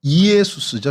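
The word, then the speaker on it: Ἰησοῦς: 그러니까 예수는 헬라어식 발음인 거예요. 헬라어식 발음으로 해서 이에수스죠. 정확히 하면 이에수스인데 이제 이거를 히브리어 발음으로 하면 호세아나 여호수아가 됩니다.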